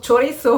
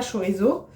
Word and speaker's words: chorizo: euh parce que chez nous on dit toujours chorisso enfin c'est notre délire tu vois avec mon